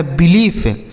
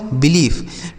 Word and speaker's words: belief: BELIEFE तो BE से बी हो गया, L से हो गया ल, IE का उच्चारण बड़ी ई की मात्रा, और F से फ हो गया, लिखा गया बिलीफ। क्या लिखा है दोस्तों, बिलीफ।